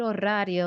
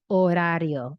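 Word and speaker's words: horario: I pronounced this wrong I said orio and they heard radio that I'm asking about electronic recycling okay orario orario just one lift of the tongue towards the roof of the mouth orario cannot be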